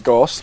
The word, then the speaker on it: Goste: we have old mate Ghosty here. It's actually the right pronounced name is Gost, but I call him Ghosty because he's a bit of a he's a bit of a puppy terrier.